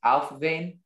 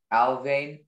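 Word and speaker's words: Alfvén: have all the information the word can be pronounced alphavene alvain alphaven alvin it's an adjective it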